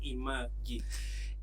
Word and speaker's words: Imagi: You have this is pronounced as imagi. Imagi. Imagi. Or elite call it image is still okay because it's image of East Africa.